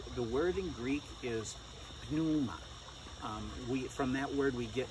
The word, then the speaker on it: pneuma: And so from the word spirit, pneuma, silent P more or less, we get spirit.